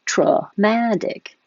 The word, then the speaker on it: traumatic: take your pick but if you make it the adjective form the stress moves and now the the first syllable is true it's going to change to schwa traumatic same for dramatic traumatic dramatic and make sure for the